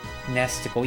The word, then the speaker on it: NESticle: years ago really nesticle yep that's it food Lord got it because it's rhymes with testicle and the icon was